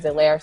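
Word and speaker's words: Helaire: week and he goes my production is silent just like the h in my name so he's silencing the haters don't worry about clyde edward zelaire stardom get him in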